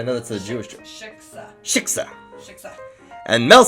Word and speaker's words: shiksa: And then Mel says, "Well, if the biggest shitska in the world..." I'm just saying it right. Shiksa. "Well, if the biggest shitska in Hit the K hard. Shiksa.